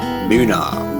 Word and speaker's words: Boonah: Boonah, BOOH-NAH, how the locals pronounce it.